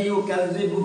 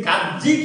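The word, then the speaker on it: يُكَذِّبُ: এরপর আল্লাহ তাআলা বলেছেন আরাইতাল্লাযী ইউকাযযিবু বিদ্দীন, ইউকাযযিবু জাল, এখানে যদি কাজ্জি কেউ বলে তাহলে জিম হয়ে যাবে, উচ্চারণটা ভিন্ন হয়ে যাচ্ছে।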